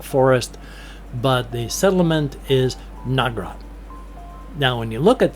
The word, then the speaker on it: Nagrat: but the settlement is Nagrat. Now when you look at that, it's N A G R A T, but it's not pronounced Nagrat or Nagrat or anything like that. It's short, choppy, quick.